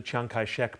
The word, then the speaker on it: Chiang Kai-shek: kai-shek his chinese name his mandarin name is jiang jieshr now i'll use the chiang kai-shek pronunciation because it's the most familiar but that's not a mandarin pronunciation it's a local dialect anyway these three generals